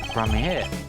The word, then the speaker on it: Gramarye: A grand Gramarye.